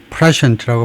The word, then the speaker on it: prescient: prescient라고 발음하고 prescient, 또 prescient라고 다지면 prescient, 그 다음에 meaning은 having foreknowledge, 그런 예측력을 가진 거, 선견지명이 있는 거, 그거네요.